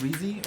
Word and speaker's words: Reese: Is it Reese or Rese or Ezzy? Reese? Reese Pieces. Oh, it's like Reese's Pieces.